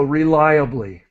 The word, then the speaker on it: reliably: okay and so just this word is is important r that syllable is lie so reliably M rely on something